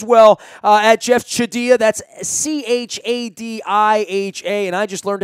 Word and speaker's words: Chadiha: That's Chadiha, and I just learned how to pronounce it, so I am embarrassed because I've